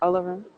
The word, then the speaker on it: Olorun: Olorun? Is that Olorun? Hmm. How you pronounce that one? You're saying it right, Olarum.